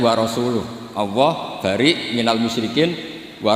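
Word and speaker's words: ورسوله: Allah itu terbebas, gak urusan dengan orang musyrik, wa rasulih juga gak ngurus Rasulnya. Kalau sama Rasul saja tidak ngurus apalagi sama kita. Terus sama Sayyidina Ali dibenarkan, yang benar bacanya itu wa rasuluh, Allah bari minal musyrikin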